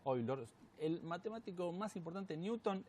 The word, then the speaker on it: Euler: Después el siglo II abarca en aquellos que nacieron en el siglo XVIII y tenemos matemáticos famosos como Euler, que es el nombre castellanizado, que se pronuncia Euler.